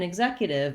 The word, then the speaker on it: executive: So in executive, it's voiced, G sound, lax I sound because it's short and unstressed. So again, starting with zek and then adding a short unstressed ig before it is a good way to build this word. Zek, exec, executive.